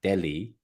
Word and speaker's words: Delia: I understand now that we should be pronouncing your name as like Delhi but Delia so have